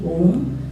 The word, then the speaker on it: Om: a together put put together becomes the prra OM a u and just splitting up into three syllables and what we going to do here